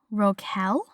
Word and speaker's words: rocaille: And it said that it came from the French word rocaille. I should have looked up how to pronounce that, and I didn't.